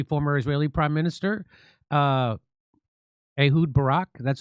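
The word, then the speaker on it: Ehud Barak: They are blackmailing uh uh uh the Israeli former Israeli prime minister uh Ahoud Barack.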